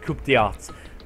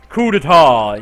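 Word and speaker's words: coup d'état: Acts of terrorism and coupata coupata. Coupetar. Coupetar. Yeah, that's how you pronounce it, began occurring around the world and a war waged in the name of despair.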